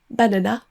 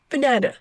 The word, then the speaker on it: banana: On ne dit pas carotte. Mais carrot, on dit pas banana mais banana. On dit pas focus mais focus. Par exemple, un francophone dira souvent banana et va prononcer les trois A de la même façon.